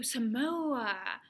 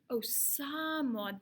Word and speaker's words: Samoa: Two, Somalia. Oh, no. Oh, Samoa. Oh, Samoa. That's how you pronounce it.